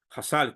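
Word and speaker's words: Chazal: sabios ya entonces cuando leemos shal o jasal jassal que es la pronunciación es los sabios los sabios nos enseñan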